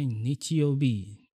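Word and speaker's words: 日曜日: Nah, ketika ini disambung dengan huruf-huruf ini, maka ini dibacanya nichiobi.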